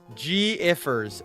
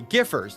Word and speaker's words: Giffers: Giffers, not gifers.